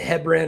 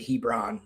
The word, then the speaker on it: Hebron: I don't know if you guys pronounce it Hebrin or Hebron. Um, here we have one here in Georgia that's it's a private school in metro Atlanta. Um, that's we pronounce it Hebron here. So, Hebron. Yeah, you're going to see